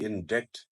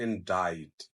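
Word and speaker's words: indict: आई एनडी आई सीटी ट सीमस टू बी इन डेक्ट बट इट इन डाइट इनकी प्रैक्टिस करें और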